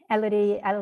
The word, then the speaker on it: Elodie: Elodie Young.